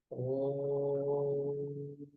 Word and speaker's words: ओम: Lips normal condition में रखने हैं। जैसे ब्रश करते हैं वैसे और उच्चारण करना है।